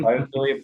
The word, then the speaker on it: Biophilia: Biophilia Partners. Yep. The Philia is the same root word as Philadelphia. The love of is Greek for love of.